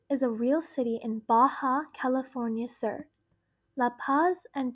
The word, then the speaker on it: Baja: This is because the J in Spanish is pronounced the H sound in English. So Baja is pronounced Baja.